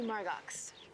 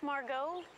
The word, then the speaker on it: Margot: so you must be Margo it's Margot the ex is silent so Hannah have you